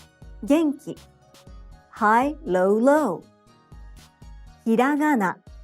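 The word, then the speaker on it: ひらがな: Hiragana, hiragana, hiragana, hiragana, low, high, high, low.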